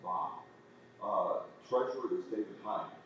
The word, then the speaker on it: Bobb: O B B I believe her name is pronounced Bobb.